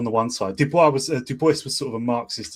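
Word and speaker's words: Du Bois: And you had in the 30s um web Duboce which is the correct pronunciation of his name.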